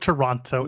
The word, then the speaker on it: Toronto: tea it's fine you can call it Toronto I will never say the tea Joel don't ever make